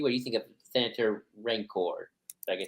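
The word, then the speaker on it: Rayencourt: you think of Senator ranor I can say it right r r i feel like it sounds like Rancor like ra which maybe is on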